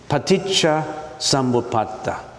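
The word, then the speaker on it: paticca samuppāda: Now why don't we just you listen to how I pronounce it? It's paticha sambuata.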